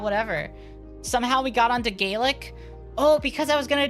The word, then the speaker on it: Gaelic: And I can at least say Gaelic. Whale like quail, ga. Or Gwaelin. Those are the two main pronunciations depending on the region. Gwaelga. Okay.